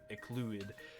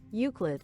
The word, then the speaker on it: Euclid: every now and then tries to escape, it's ecluid. Fuck it, I can't take it anymore. How do you pronounce that? Google is my friend. Pronounce this word. Euclid.